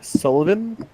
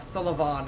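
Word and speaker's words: Sulyvahn: Pontiff Sullivan? Or Sullivan, I believe, is a more accurate pronunciation.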